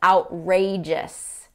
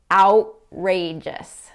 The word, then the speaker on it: outrageous: The third word is outrageous. Outrageous. So not outrageous, outrageous. It sounds too formal for most native speakers.